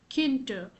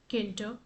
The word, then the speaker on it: Tkinter: which is known as Tkinter. Okay, so it's written as Tkinter, okay, wherein T is silent.